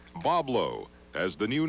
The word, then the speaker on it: Boblo: gr on there patrons to the island continually mispronounce the island's name as boy blank in 1909 the ferry company decided to begin using the phonetic spelling Boblo as the new name